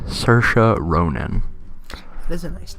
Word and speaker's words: Saoirse: of tea no oh Saoirse is pronounced like Sasha Sasha Saoirse Ronan those Midwestern